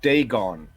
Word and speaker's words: Dagon: It says Dagon. Yes, No R.